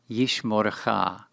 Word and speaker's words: Yishmorecha: Yishmorecha, Yishmorecha. Please notice that in the second syllable of this word, we find a kametz hatuf, pronounced O.